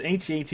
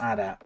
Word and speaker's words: AT-AT: Is it pronounced AT-AT or ADA? Both. Because it's been literally... It's literally in universe, it's been called AT-AT and ADA. So it's both.